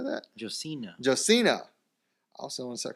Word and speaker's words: Josina: Earlier this week, ESPN reported Joshua how do you say that? Josina.